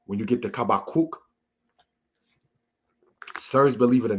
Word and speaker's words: Habakkuk: Next, we have, brothers and sisters, showing with the laser pointer, Habakkuk, which is pronounced as Kabakuk, which comes from the word kabak. We want to highlight that particular case there.